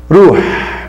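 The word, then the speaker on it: روح: Diz aí, ekol, eshrab, eskun, edrus, estehil, nam, chuf, ruh, com H bem airado, ruh, sefir, erki.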